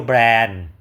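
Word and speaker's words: Bern: ครับ ช่วง เช้า เที่ยว แบรนด์ หรือ เบิร์น นะ คน ไทย เรียก เบิร์น นะ เพราะ เค้า อ่าน ว่า แบรนด์ นะ เมือง หลวง ของ สวิต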